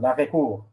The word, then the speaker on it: arrêt-court: It's actually pronounced l'arrêt-court.